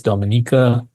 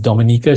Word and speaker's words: Dominica: earlier anguila sink Nas Dominica St Vincent gr Dominica should not be confused with Dominican Republic it's actually pronounced a little bit differently as well uh Grenada